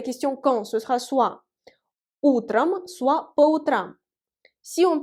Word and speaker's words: утром: Faites attention au changement de la place de l'accent tonique. On dit утром, l'accent tonique frappe la première. Voyez le ou, alors que по утрам, l'accent tonique frappe la dernière. Voyez le a.